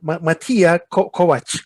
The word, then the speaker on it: Matija: i'm really curious who is who is mattia matia is it how do you pronounce it yeah yeah that's that's right you